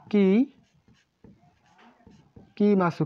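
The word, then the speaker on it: 書きます: এটির সাথে এড করতে হবে কি কি মাসু। কি মাছু হয়ে যাবে কি? এর উচ্চারণ হয়ে যাবে কাকি মাসু।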